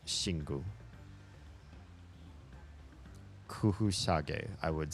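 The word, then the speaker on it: Xingu: how to pronounce that my first instinct is is a sh sound with the X partly because of Mandarin and partly because there is a Brazilian beer spelled s x i n guu that is I believe pronounced shingu Kush shag I would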